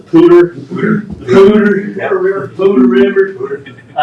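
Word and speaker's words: Poudre: a pronounce it wrong I pronounce it powder but I guess it's a pooter the pewter never included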